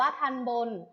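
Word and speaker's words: ทัณฑ์บน: ทำ บุญ ท่าน บน อ่าน ว่า ทัน บน ท่าน บน ประกอบ ไป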